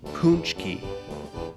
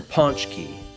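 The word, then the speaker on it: pączki: P a c c k i but it's pronounced paczki or sometimes you hear ponch key so that's how you say it but there's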